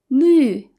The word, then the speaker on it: 绿: 绿 again is the U with the umlaut. So say it with me. 绿. 绿色.